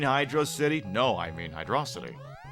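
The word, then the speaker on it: Hydrocity: City no I mean hydrosity isn't it pronounced Hydro City if it was pronounced Hydro City they' have put a space break between hydro and City I don't give a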